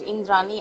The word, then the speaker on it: Indrani: Indrani, I mean, he pronounces it with a like soft D, but I like it that way.